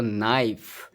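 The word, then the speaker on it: knife: यहां पे है के एन आई एफ ई तो नाइफ तो यहां से नाइफ से पढ़ेंगे। यहां पे के साइलेंट हो गया तो यह साइलेंट लेटर के टॉक टॉक में एल साइलेंट हो गया।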